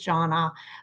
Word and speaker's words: Jona: how to say her name my name is Jonna um it often when I join calls it gets mispronounced and I'm going to use that as